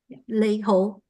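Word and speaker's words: 你好: Nall and Andy do you know how to pronounce that in canones I know it's lehoo Leo yes and you see on this a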